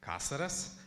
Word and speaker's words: Caceres: surname correctly for yeah for new people it's casares and I know it's difficult and I